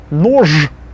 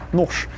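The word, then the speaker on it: нож: And the next one, noj, will actually be nosh. Can you imagine actually trying to say noj? That's too hard. So Russians make it easier and say nosh.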